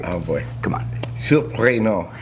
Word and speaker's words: Surprenant: Now, right off the bat, all right, we got to get the pronunciation of the name right. Oh, boy. Come on. Surprenant. Surprenant.